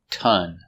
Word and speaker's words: ton: Ton. We spell it with an O, but it's pronounced with the sound.